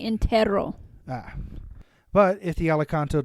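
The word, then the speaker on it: entierro: such as an entiero I don't know how to pronounce that word e n t i e r r o Intero it's actually Intero ah but if the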